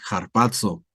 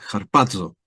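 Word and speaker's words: ἁρπάζω: Y otra vez, Strong G726, harpazo. Picas acá y ya tienes ahí. Esa es la transcripción, ¿verdad? Y esa es la pronunciación, cuando quieras verlo así, ¿no? Es harpazo, ¿sí?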